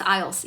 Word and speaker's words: IELTS: IELTS, how do pronunciate? What do you mean? IELTS, that's IELTS. 雅思, IELTS, yeah.